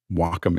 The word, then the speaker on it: Wacom: do you say this is it Wacom Wacom Wacom Wacom is the right way to say that you're welcome you welcome